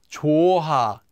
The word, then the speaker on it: 좋아: And finally, 좋아, 좋아, 좋아, 좋아. So anytime the hyeot comes between two syllables and there's an empty consonant, it simply disappears.